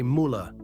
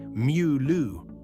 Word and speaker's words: Müller: Americans say Müller. Germans say Mew-loo. Through that U sound English simply doesn't have.